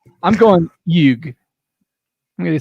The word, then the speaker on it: Huyghe: The huge brewery in Belgium. That's how it's pronounced. Family Brewery HUYGHE. Huge. I'm going Yug.